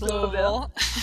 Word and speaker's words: Louisville: But you have your Bachelor of Science from Louisville, right? I said it right? Yes, Louisville.